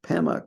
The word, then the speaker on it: Padma: He quotes Padma Karpo or Pema Karpo, I think the way Tibetans would pronounce Padma.